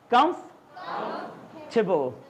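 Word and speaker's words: comfortable: जबकि एक्चुअल में इसकी प्रोनंसिएशन होती है बच्चा, आर यू कंफर्टेबल, आर यू कंफ, look at इट, दो सिलेबल आएंगे, कंफ टेबल, आर यू कंफर्टेबल।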